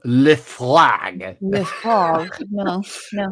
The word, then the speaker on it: Lefroy: Lefroy.